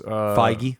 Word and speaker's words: Feige: Marvel Studios president Kevin Feige has Feige. Feige, is that his name? Yep. Wow, that is the last pronunciation I would have guessed for that name.